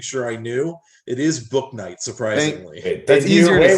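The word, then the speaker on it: Bouknight: It is Book Night, surprisingly.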